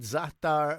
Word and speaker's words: za'atar: Zaatar, if you want to look it up, if you want to purchase it.